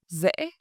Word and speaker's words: dễ: Or the second example, bài tập này rất dễ. This exercise is very easy. The word dễ, easy, is pronounced dễ.